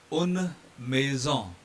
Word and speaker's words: une maison: Then second word is une maison. We are voicing N here because N is followed by E here.